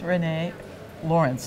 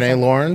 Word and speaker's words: Rene Laurens: just both on a panel and this is Renee Lawrence did I pronounce it right that's correct is it close or perfect fix me if it was Rene lawren is fine yes that's great so tell us